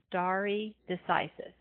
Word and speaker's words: stare decisis: doctrine of stare decisis this is a Latin phrase that's why it's pronounced a little bit not the way you would expect to I've kind of broken